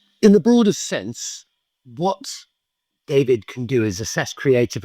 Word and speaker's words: Daivid: So David is spelled D AI VI D.